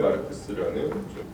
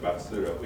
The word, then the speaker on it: 마르크스: 그러다 보니까 이제 이 카를 마르크스라는 원음하고 이제 생경한 표기가 어느덧 이제 당연한 것으로 이제 굳어져 있는 거다라는 생각이 듭니다. 어쨌거나 이 수업에서는 굳이 그런 표기를 쓰지 않고 이제 막스라고 읽고 쓸 거예요.